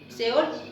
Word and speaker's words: Seol: Seol, seol significa seol, acento en la o ades o mundo de los muertos, como si fuera retiro sus terraños, sus accesorios y y reclusos.